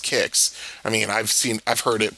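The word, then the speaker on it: Qix: Are you experienced kicks or quicks? Either way. I mean, I'm looking at the Wikipedia page and they say it's pronounced kicks.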